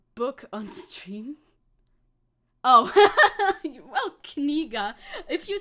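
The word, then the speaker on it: книга: Oh, well, Kniga. If you say it with enough, if you are sure to pronounce the K, then you're fine.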